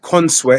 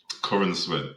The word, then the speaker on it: Corenswet: So So can I can I just point out first of all I think David Consweet is that how you say his name? Corin Sweat. Corin Sweat. I think he did a good job as Superman.